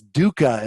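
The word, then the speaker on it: duhkha: It's dooka.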